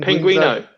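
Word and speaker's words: Penguinz0: I watched some Ordinary Gamers take on it, and I'm gonna butcher this name, Penguinzo. Oh. Is that how you pronounce that name? Penguino.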